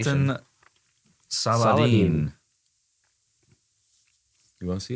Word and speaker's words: Saladin: It's Saladin. Saladin. I guess I don't know if that's how you pronounce it or not, but it's not Salahuddin. It's not.